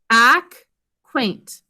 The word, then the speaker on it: acquaint: pattern as that acquaint ack quaint two syllables first syllable is accus which ends up being silent it's just there to keep the vowel short and second syllable for